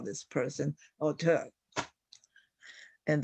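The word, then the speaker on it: auteur: would call this person auter and that t would usually be pronounced as D and we have besiege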